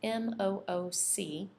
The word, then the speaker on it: MOOC: to share with you another resource called mooc that's spelled m-o-o-c and it stands for massive open online course